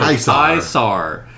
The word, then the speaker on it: Caesar: I wanted it to be spelled Caesar but pronounced different.